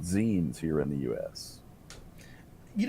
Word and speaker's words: zines: It's like e-zines, or I always pronounce it zines because like magazine.